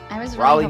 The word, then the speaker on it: Raleigh: today we are going to be talking about February 17 2018 from Raleigh I looked up the pronunciation this time so I made sure it's correct Raleigh North Carolina yeah you know what I we